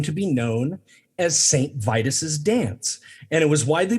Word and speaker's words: Vitus: saints day dedicated to saint vidis or i i've been saying it wrong this whole time it's saint vitus my god like vital or they occurred around